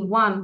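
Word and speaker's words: one: আচ্ছা, আরবি হ্যাঁ, টুটা হচ্ছে ধরো ও এন ই, ওয়ান, কিন্তু উচ্চারণটা কি আসতেছে ওয়া, ওয়া, ডাব্লিউ আসতেছে, ডাব্লিউ তো আর ভাওয়েল না, ডাব্লিউ তো হচ্ছে কনসোনেন্ট, তাই না?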